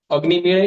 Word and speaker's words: अग्निमीळे: तो यहाँ पे अच हो, पीछे अच हो, बीच में ड ड बैठा हो तो ड़ ड़ ऐसा बन जाता है वो अग्निमेळे।